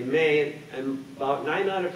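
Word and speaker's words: Mae: people do wonder about my name they say may and about nine out of 10 people ask me how do you spell that you know m-a-e-m-a-y-s and so forth so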